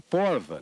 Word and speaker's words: prova: Uma prova. Uma porva, na pronúncia daqui.